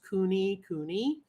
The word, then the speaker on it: kunekune: history on kunikuni pigs obviously you know they're pronounced Cooney Cooney they're a Heritage breed